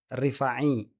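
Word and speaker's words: Rifa'i: Oke, ini ada ee perdebatan di antara Masrafli Harun dengan Rifai'i. Ya, harusnya bacanya begitu ya.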